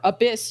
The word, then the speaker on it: ABIS: future Tokyo working with abis which or Abyss is the way that they pronounce it uh the Advanced Brain